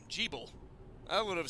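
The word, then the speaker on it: Gebel: stop to all this so that's how you pronounce his name G bull I would have said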